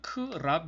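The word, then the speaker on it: ครับ: 얘가 크락 일하는 경우가 말 자체가 줄여서 이젠 캅 이라고 발음을 하게 되는 거겠죠 그러니까 쉽게 이야기를 하며 는 크랍 인데 예 에미를 사운드가 색녀 게 된다는 얘깁니다 이 아일 발음이 생략이 된다는 건데 요 거나 약간 규칙적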